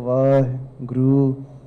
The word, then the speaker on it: Vaheguru: And some people, they take a little pause between Vahe, they go Vah, Guru. I personally think it doesn't matter how you say it.